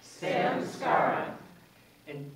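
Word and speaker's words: samskara: say it with me Samar one more time Sam Scar and Sanskrit is great because if you wonder how it's spelled it's spelled just like it sounds Sam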